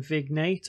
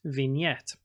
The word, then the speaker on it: vignette: g and e TT e and some people mispronounce it by saying vignette or vignette it's actually pronounced vignette what is it exactly well you may see